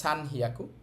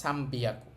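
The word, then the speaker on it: さんびゃく: তো হওয়ার কথা ছিল সান হিয়াকু। কিন্তু এটার উচ্চারণ ব্যতিক্রম। এটাকে বলে সাম্বিয়াকু।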